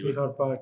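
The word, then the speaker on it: Fichardt Park: So you went to Fichard Park, correct? Am I pronouncing that correctly? Fichard Park, yes.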